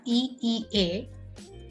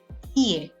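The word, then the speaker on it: いい: Some of you must be reading it as EEA. However, it will be pronounced as EA because it becomes longer when you put two similar sounds together, EA.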